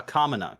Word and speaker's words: Kamina: It's Canada Commina. Something like that. I think it's uh pronounced uh Canada. No, I'm just kidding. Uh I'm just a screw with uh Kamina.